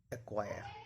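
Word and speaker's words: acquire: के बाद के या क्यू हो तो सी साइलेंट रहता है। Black, एक्वायर।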